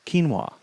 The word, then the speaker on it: quinoa: Let's say it's quinoa. Looks crazy, but it's pronounced fairly simply. And so you see keen, K-E-E-N, wa, W-A. And then you also hear it played in your ear, quinoa.